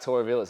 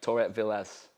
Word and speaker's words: Torrevillas: We have two special guests here on today in the form of James Lee and Torrevillas. Did I say that right? Yeah. Torrevillas. Torrevillas.